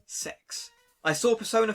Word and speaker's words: CeX: this pre-owned game shop called cex but they're very clear in the marketing that it should be pronounced as sex i saw persona 4